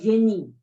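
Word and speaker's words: Genie: Y la idea de genio de la que estamos hablando acá es génie, se pronuncia así, debe ser por influencia francesa, se escribe G-E-N-I-E.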